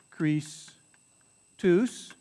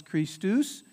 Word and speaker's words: Christus: o s right so in the latin it becomes crease twos the christos becomes christus right where we get the